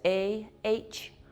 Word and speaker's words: ahimsa: I'll spell that for you. That's A-H-I-M-S-A, ahimsa, which in yoga talk means no harm.